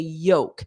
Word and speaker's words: yolk: part is called the Yoke notice that pronunciation yoke yoke this spelling contains an L but it's silent yoke yoke so if you order